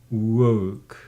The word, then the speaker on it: woke: Woke. Say, ago. Wait. Did you hear? Right now, how I pronounce this word, woke.